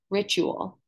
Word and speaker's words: ritual: writ you all however because we have the t u sound it sounds like Rich r-i-c-h ritual ritual we don't say